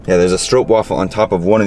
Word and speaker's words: stroopwafel: stroke stroopwafel strope strope stroke waffle that's how you pronounce it yeah there's a strope waffle on top of one